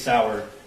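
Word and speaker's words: Sauer: he mentions the six sour he mispronounced sour as Sawyer which if you purchased that firearm and it was for yourself you'd be familiar with how to say six sour okay and I I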